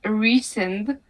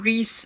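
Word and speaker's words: Rhysand: the thing is I know that his official pronunciation of the name is recent that's barely better it's even wor worse like in and she calls him Reese sometimes which is annoying because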